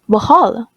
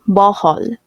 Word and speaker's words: Bohol: mispronounced chocolate as chocolate the learner put the wrong stress on the word bohol and mispronounce it as bohol in addition this sound